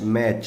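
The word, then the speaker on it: match: नीचे देखिए एम ए टी सी एच, मैच, सी एच लिखा हुआ है और इस सी एच का उच्चारण है मैच, च, इसलिए यहां पर केवल ई एस जोड़ करके बहुवचन बनेगा।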